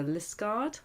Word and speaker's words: Liskeard: do that this morning I drove to list guard that's how you say it here in Cornwall drove their part the